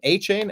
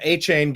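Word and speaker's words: Achane: How do you pronounce his name? A-Chain?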